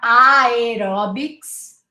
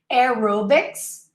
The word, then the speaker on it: aerobics: simple so aaron smith aerobics not i orbits right aerobics aerodynamic aerospace aeronaut again